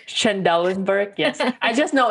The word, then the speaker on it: Trendelenburg: Trendelenburg, yes.